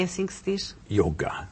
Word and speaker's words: Yoga: Yoga. A pronúncia yoga correta, universal, para o mundo inteiro e desde as origens no sânscrito na Índia, yoga.